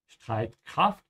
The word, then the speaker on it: Streitkraft: Again here, the S and T, you have to say st. Yeah, Streitkraft.